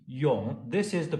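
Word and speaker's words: 永: There are 4 intonations in reading Chinese characters. This is called the third one, and in this case, it's not Yong, Yong, Yong, it's Yong, and it's not Yong, it's the third one.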